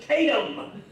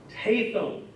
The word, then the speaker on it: Tatham: not people look at Ta ETH AEM and pronounce it oh look there's Tatum sorry it's not Tatum even though way back